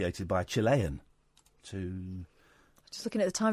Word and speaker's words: Chile: Can I ask, how do you pronounce the name of your country? Is it Chile or Chile? Chile.